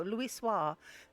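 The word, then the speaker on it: Louisoix: Louis Louis swah Louis swah there we go Louis swah may have been able to shed light upon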